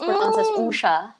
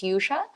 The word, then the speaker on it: Usha: is actually indian and it's usha an original pronunciation i tell my friends it's yusha so i i really like of course family they call me usha because that's the indian indian real pronunciation you know so but